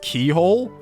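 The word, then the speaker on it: Cichol: the old chapel and apparently Saints whatever that is is actually pronounced st. keyhole okay alright whatever salvation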